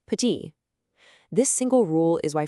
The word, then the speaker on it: petit: It's there in the spelling, but it's silent. So, a word like Paris isn't Paris, it's Paris. The word petit isn't petit, it's just petit.